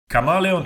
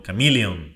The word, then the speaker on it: Chameleon: female pfp image um camalon travels camalon travels so guys I decided to run a quick one on the chameleon chameleon that's how you say it chameleon travel the proposed